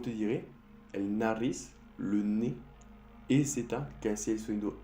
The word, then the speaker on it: nez: EZ también. EZ puedes encontrar en la palabra ne, que es decir nariz, se escribe N-E-Z.